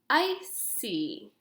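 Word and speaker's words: icy: ask myself a question is my word followed by the letter e i or y because i answered yes to this question is this word pronounced with the s sound yes it is because my condition is present therefore this word is pronounced i see because the letter c is followed by the letter y now let's look at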